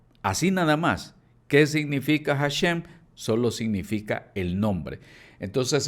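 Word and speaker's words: השם: La palabra Hashem o Hasem, como dicen algunos, es un término hebreo que significa literalmente el nombre. Así nada más. ¿Qué significa Hashem?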